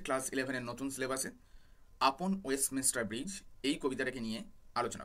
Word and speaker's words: Westminster: আপন ওয়েস্টমিনস্টার bridge, মিনিস্টার নয়, খেয়াল রাখবে উচ্চারণটা, ওয়েস্টমিনস্টার।